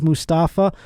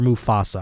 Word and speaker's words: Mufasa: those of you who reminding me that it's musafa instead of mustafa i will not apologize i made i put one tea in there and everyone's up my ass you try talking for an hour and see how many things you up of course i know it's musafa and not mustafa or mufasa i'm saying it wrong